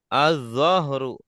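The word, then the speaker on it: الظَّهْر: Azzahru punggung. Punggung. Ini kalau dibacanya azzuhru artinya zuhur. Waktu salat zuhur ya. Azzuhru. Oh, tapi kalau azzahru unggu ungg ya.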